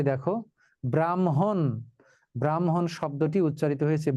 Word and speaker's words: ব্রাহ্মণ: যেমন এই যে দেখো ব্রাহ্মণ ব্রাহ্মণ শব্দটি উচ্চারিত হয়েছে ব্রাহন যুক্তবর্ণে আছে হ এবং ম কিন্তু উচ্চারিত হবে ম এবং হ ব্রাহন শুনিয়া কহিল ব্রাহ্মণ যাইবি সাগরে চল তোরে দিয়ে আসি সাগরের জলে